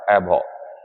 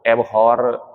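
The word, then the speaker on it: abhor: तो आज के जो शब्द हैं उसमें हमारे लिए पहले आया एबहो। एबहो, इसका आर ना साइलेंट रहता है बच्चों। एबहॉर से बचें आप, एबहो ऐसा करके पढ़ें आप इसे, ठीक है ना।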